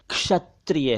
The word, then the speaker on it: क्षत्रिय: एक शब्द है क्षत्रिय इसे कुछ लोग क्षत्रिय कहते हैं क्षत्रिय क्षत्रिय नहीं है क्षत्रिय है क्षत्रिय और इसी से बना है